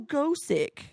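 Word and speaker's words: Gosick: it's pronounced that because in Japanese it's supposed to be Gothic but the th they can't pronounce so it's so and I found that out everybody I talked to was like oh go sick and I'm like it's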